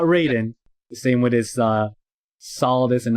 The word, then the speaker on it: Solidus: By the way, it's pronounced Raiden. Raiden is from Mortal Kombat. Right. Raiden, not Raiden. The same with his Solidus and not Solidius.